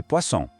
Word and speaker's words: poisson: Em francês, le poisson. O interessante aqui são 2 sons. O oi, que soa como o A, e o som, que tem um som de S bem forte, como na palavra assar.